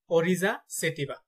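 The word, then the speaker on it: Oryza sativa: তো আমরা কয়েকটি জীবের বৈজ্ঞানিক নাম দেখে নেই এবং তাদের উচ্চারণগুলো দেখে নেব ইনশআল্লাহ। দান দানের বৈজ্ঞানিক নাম হচ্ছে অরিজা সেটিবা।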